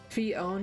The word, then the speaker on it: Phione: open your heart oops fion is the Italian American pronunciation well boy do I